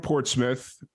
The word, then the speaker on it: Portsmouth: You're from Portsmouth. Did Yes. I pronounce that correctly?